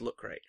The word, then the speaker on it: Luke Craig: It's pronounced look great.